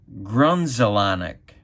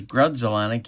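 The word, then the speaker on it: Grudzielanek: would pronounce Grudzelanek's name Grunzelanek. But there's no N. Well, there was an N down here, but there's no N back here. I don't know. I always thought that was strange. Grunzelanek.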